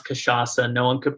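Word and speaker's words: cachaça: might mispronounce it and with kashasa you have a sediya on the final c uh which no one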